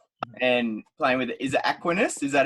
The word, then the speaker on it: Aquinas: junior of Cronulla and playing with, is it Aquinas? Is that how you pronounce it? The Colts? Yeah, pretty close. Yeah, Aquinas.